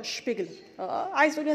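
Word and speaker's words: Spiegler: اوكي بروك شبيجلر شبيجلر الاس بي ده في الالماني بتتنطق شبيجلر عايز اقول يا سبيجلر ما حدش يعني بيدور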